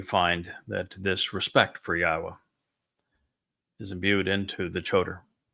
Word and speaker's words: Yahweh: He was the one who recognized that the proper pronunciation was God's of God's name is Yahwa not Yahweh. So that or Yahwa so that you can